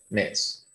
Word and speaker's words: mes: semana how do you say month missed m-e-s simple mess how do you say